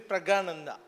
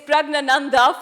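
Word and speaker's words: Praggnanandhaa: Yeah, it is Pragananda. It is Pragnananda for chess.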